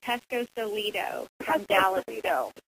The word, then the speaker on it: Pescosolido: say it wrong and mess up it's okay Pesco solo yeah out in Texas and we're so excited